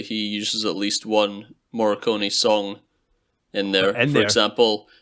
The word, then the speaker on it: Morricone: I apologize if I don't pronounce this properly, but it's Ennio Morricone or Morricone. Morricone.